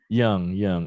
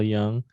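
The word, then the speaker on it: Yonge: why o-n-g-e is it yang it's not spelled traditionally like how you would spell young it's y-o-n-g-e but yeah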